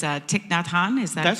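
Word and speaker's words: Thich Nhat Hanh: years and I had no idea how to pronounce his name and if I've got it right it's uh tikn Natan is that correct correct that's correct that that's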